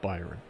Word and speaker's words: Byron: That's pronounced Byron. The kingdom's called Byron.